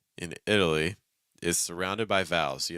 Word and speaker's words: Italy: it because that's happening the letter T is not pronounced as T it's actually pronounced as what's called a fast D sound it's like I'm keeping